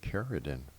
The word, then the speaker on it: Cerridwen: Jeez, did I get her name wrong all this time? Cerridwen. I thought that would have been with a K.